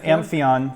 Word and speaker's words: Amphion: with that and now the Anthea am i pronouncing correctly yeah Amphion really Finland you've got a great reputation in